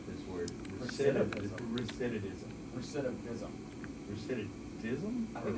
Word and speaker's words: recidivism: If I just said it real quick, recidivism, then, there you go. Oh, okay. Recidivism. Yeah. Oh, is it? Yeah. Oh, man, I've been mispronouncing it this whole time.